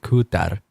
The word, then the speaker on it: Kutar: Kutar. You gotta roll your R's. So if they grabbed an English speaker who doesn't have the ability to roll their R's, it's a tough luck.